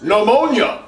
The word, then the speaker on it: pneumonia: The P is silent. Pneumonia does not start with a P.